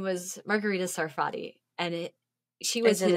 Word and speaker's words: Margherita: So, but one of them, her name was Margherita Sarfatti. And she was in a drink? Margherita. Yeah. Spelled differently, but yeah, it's pronounced the same.